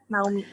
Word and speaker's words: Naomi: Naomi atau Naomi? Secara Indonesia atau secara bule? Halo. Halo. Panggilnya Bener Naomi, kok, bacanya Kak. bener ya? Bener, Oke. Naomi. Naomi, oke, Indonesia berarti.